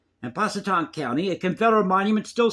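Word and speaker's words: Pasquotank: I'm pronouncing that correctly it's p a s quu t n k and Paton County a confederal Monument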